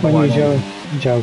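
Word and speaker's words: Guanyu Zhou: Zhou Guan Yu. Zhou Guan Yu. It's Guan Yu Zhou. It's Zhou's surname. Yeah, that's what I thought, Guan Yu Zhou. Yeah, it's Guan Yu Zhou.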